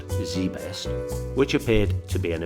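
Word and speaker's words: ZZZZ Best: barry j minkow is a former american businessman pastor and a convicted felon while still in high school he founded zen said zedzed best pronounced zbest which appeared to be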